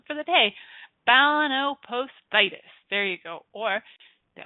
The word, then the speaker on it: balanoposthitis: that forkin is inflamed the condition is called balanoposthitis balanoposthitis can you guys say that let's spell it kids b a l a n o